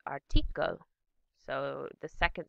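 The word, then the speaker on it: Artikel: emphasis in German it's article so the second syllable tends to be um the stress is shifted to the second syllable in German so we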